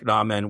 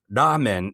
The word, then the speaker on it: ramen: say Okay, he's like, "Yeah, no, don't say it that way." Ramen is the right way to say that in in Japanese, of course, ramen, but ramen has become a word in in English.